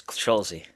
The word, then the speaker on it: Scholze: Welcome, Scholze. Thank you, guys. Thanks for having me, Matt. Appreciate it. Yeah, absolutely. You guys, Schulze, am I pronouncing Scholze. Yep. Yep. You're Schulze? close. Yeah. Yep. That's Scholze.